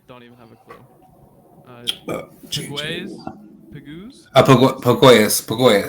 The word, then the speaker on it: Pegues: Pegues? Pagoyas.